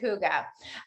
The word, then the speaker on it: hygge: stands for um that i believe it's um swedish danish one of those um and you do pronounce it hygge um now you guys